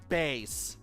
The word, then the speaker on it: Bass: light to investigate also is pronounced bass not bass mega man good grief